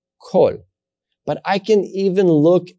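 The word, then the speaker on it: כל: It's going to have the pronunciation O, kol.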